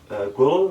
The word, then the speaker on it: ghrelin: because what makes you hungry is we produce ghrelin, is that how you say it?